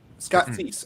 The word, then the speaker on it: Scott Seiss: Scott Seiss. Scott Cease, actually. That's how you Cease. pronounce his name.